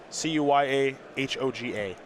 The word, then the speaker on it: Cuyahoga: the cuyahoga falls area cuyahoga falls that's correct c-u-y-a-h-o-g-a look at you cuyahoga well i'm from northeast